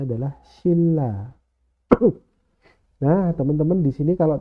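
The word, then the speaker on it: 신라: sinra jadinya n-nya berubah jadi l menjadi cara membacanya adalah Silla Nah teman-teman di sini kalau tadi bingung ya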